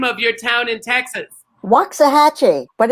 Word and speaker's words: Waxahachie: say the name of your town in Texas Waxahachie but it's temporary I actually loved Provincetown and